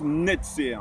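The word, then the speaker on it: נצר: racine de 3 lettres, Nun, Sadi, Resh, qu'on prononce Netzer.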